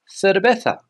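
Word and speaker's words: cerveza: Pella but paa paa the letter c when it comes before an e or an i is pronounced th here on Spain similar to The Zed that we saw before th like thin for example the word beer here in Spain is pronounced thetha thetha the letter V here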